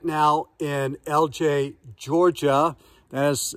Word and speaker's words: Ellijay: texas although today i am right now in lj georgia that is spelled e-l-l-i-j-a first time to pull up into